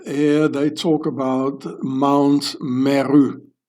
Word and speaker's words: mr: The ancient Egyptian word for pyramid is Mer, M-R, pronounced Mer.